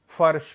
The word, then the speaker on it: फर्श: अब यहाँ पे देखिए पहला जो अक्षर है वह है फा, और ये है बड़ा शा, उस पर रेफ का प्रयोग किया गया है। तो ये शब्द कैसा बनेगा, कैसा उच्चारण होगा, फर्श हो जाएगा, फर्श।